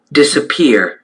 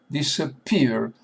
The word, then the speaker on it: disappear: Disappear. Disappear. Disappear. Disappear. Disappear. Disappear. Disappear. Disappear. Look at this schwa, this disappear. Accent is on the last syllable.